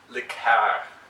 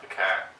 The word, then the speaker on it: liqueur: Well, one thing about your story, when you're telling it, it's pronounced liqueur, not liqueur.